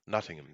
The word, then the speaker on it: Nottingham: from from Notting Nottingham you are do I pronounce that correctly Nottingham Nottingham yeah nottingam knots people call it knots where we are